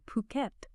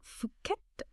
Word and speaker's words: Phuket: And quick note, we'll be using the local pronunciation Phuket, not Fuket.